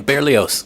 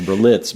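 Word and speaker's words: Berlioz: And The Shining, um the cinema or Symphony Fantastic by um John knows how to pronounce the name. Beerios. Beerios. See, I always thought it was Beritz, but it's barely correct.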